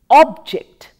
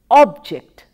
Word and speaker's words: object: and as a word when we use it as a noun we pronounce with the stress on the first syllable as object object stresses on the first